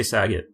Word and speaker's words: Sagat: I would say Sagat. Like Bob Saget.